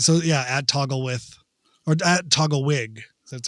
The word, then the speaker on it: Togglewhyg: How do you pronounce it? I don't know. Yeah. Togglewig.